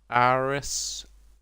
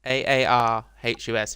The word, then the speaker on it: Aarhus: Aarhus, Aarhus.